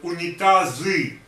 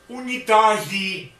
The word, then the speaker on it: унитазы: The Georgian will say unitazi, trubi, unitazi. That sounds, for Russian, that sounds very funny. So if you don't want to provoke a smile, better to speak, to try to speak it in Russian way.